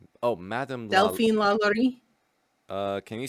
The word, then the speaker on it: LaLaurie: Madame La Laurie. Oh, Madame Delphine La Laurie. Can you spell that?